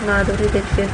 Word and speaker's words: Madhuri Dixit: Madhuri Dixit, name pronounced Madhuri Dixit, born 15 May 1967, is an Indian actress, producer and television personality.